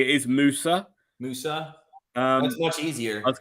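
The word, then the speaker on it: Musah: I think actually, to say his name correctly, it is Musa.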